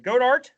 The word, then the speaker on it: Goedert: Zach Ertz and how do you say his name? Goddard? Yeah, Dallas Goedert. Yep. Goddard.